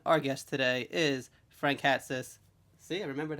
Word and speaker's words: Hatsis: Foxy Jackson, and our guest today is Frank Hatsis. See, I remembered how to pronounce that from yesterday.